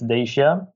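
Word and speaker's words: Dacia: about cars you know we had our we pronounce it - yeah it's Dasia car yes and yeah now it's a very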